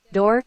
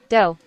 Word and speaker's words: dough: For example, you pronounced door instead of dough.